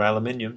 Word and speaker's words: aluminium: The actual density of aluminum or aluminium, depending on how you want to pronounce it, is something of the order of about 2,700.